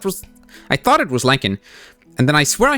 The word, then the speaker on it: lichen: We're just going to figure out how that's pronounced cuz apparently we're going to have to pronounce it several times. Um, lychen. Lien. Lychen. Lyken. All right. No, I was correct at first then.